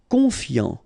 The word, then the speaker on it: confiant: Confiant. Final T not pronounced. So I-A-N, yan, fiant, confiant.